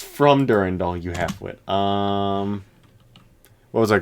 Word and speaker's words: Durandal: I had someone actually pronounce it like that. Durandal. Yep. Dackle. Durandackle. Durandackle. Dackle-lackle. It's from Durandal, you halfwit.